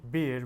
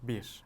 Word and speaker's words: bir: So bir in Turkish is one. And if you want to say bir when you're ordering something, we will use bi instead of bir.